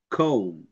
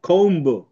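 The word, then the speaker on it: comb: যায় যেমন এই যে কম ক্লাইম থাম দেখছো কম ক্লাইম থাম্ব কিন্তু আমরা এভাবে বলবো না কম্ব ক্লাইম্ব থাম্ব বি বলা যাবে না বি এর ব উচ্চারণ হবে না ক্লাইম ম থাম ম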